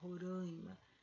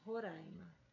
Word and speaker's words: Roraima: vogal e o ah não necessariamente a gente teria que nasalizar roraima poderia usar aberta roraima tá bom essa explicação